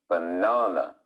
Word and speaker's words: banana: where the stress is it's on the second syllable banana what makes the stressed